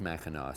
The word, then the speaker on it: Mackinac: is maca now in in Michigan it's the Mackinac Bridge and it's spelled like Mackinac but it's pronounced Mackinac so we're going to call this the Mackinac